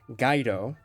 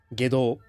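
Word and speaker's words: 外道: However, as a Japanese speaker myself, I can confirm that this is not true, as the characters for Gaido are supposed to be pronounced as Gedo or Gedo.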